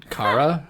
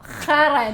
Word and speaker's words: Khara: Like, okay, if I was to spell it out for you, it would be like KH, and that's the kh, and then ARA. So. Kara? No, khara, not.